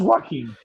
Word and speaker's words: Joaquin: No, but it is a Spanish name, so if you could just pronounce it correctly.